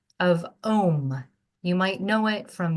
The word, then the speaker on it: Om: And it just so happens that in the English language, Om rhymes with home.